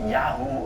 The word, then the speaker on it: Yahweh: Although the name Yahweh seems to have been pronounced Yahoo or Yahoo at the time.